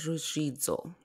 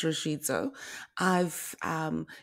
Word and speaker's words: Ruzvidzo: So my full name is Ruzvidzo. And I always say, if you picture pronouncing reds and you can pronounce z. So it's a little trick for you there to pronounce Ruzvidzo.